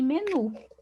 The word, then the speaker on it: menu: A mesma coisa acontece com aipim e menu. Aipim, menu. Então, essas palavras aqui também são oxítonas.